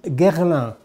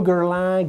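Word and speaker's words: Guerlain: so the first one is gerald so no garland garlic no garlic very easy a fantastic perfumer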